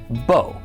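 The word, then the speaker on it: בּוֹ: That vav, when it's combined with a cholam, does not make the V sound. It's just considered part of the cholam vowel.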